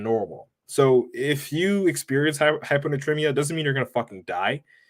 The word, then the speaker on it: hyponatremia: But what I really wanted to talk about was hyponatremia. Hyponatremia. So I'm going to spell it out for you guys that want to Google it.